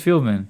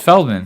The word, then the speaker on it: Feldman: Yeah, is it Fieldman? I don't think it's Fieldman. No. It's Feldman.